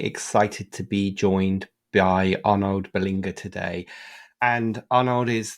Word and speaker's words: Arnaud: like you would have yeah it's correct it's called it's Arno so perfect thank you